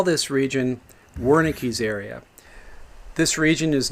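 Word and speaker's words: Wernicke: we call this region warik area this region is named after the German physician uh Waki or perhaps you prefer the pronunciation Veri who described a series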